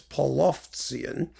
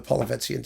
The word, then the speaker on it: Polovtsian: how they're spelled, especially in Cyrillic, and it's Polovtsian, but we still call them the Polovetzian dances because it's easier to pronounce.